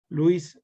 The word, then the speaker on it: Lewis: o bases de louis louis pronunciando inglés lewis pronunciar en español cientos estos van a